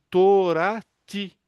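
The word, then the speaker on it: תּוֹרָתִי: Então, como é que eu pronuncio isso? Olha que interessante. Torati. Torati.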